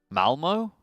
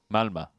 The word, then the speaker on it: Malmö: Because Malmö? Malmö. Okay. Yeah. It's just like, yeah, it's very easy to pronounce, and then you have an at the end. Which obviously, for whatever reason, when English people read something, and it's like, I can see that letter isn't an O, but I have no